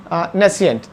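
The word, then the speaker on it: nescient: तो इसको सिएंट प्रोनाउंस होते हैं, तो जब दोनों को साथ में लिखते हैं तो प्रेसिएंट एंड नेसिएंट प्रोनाउंस होते हैं दोनों ये।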